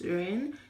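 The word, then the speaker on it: 人: Ren, ren, ren. Okay, ren means person. Person in Chinese is ren.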